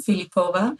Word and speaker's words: Filipova: feel welcome and I appreciate the Bulgarian pronunciation of my last name philipova I made my way